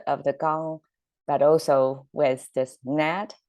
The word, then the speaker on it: 纲: And the right side is the sound maker, pronounced as gang, and same sound, same strict transfer.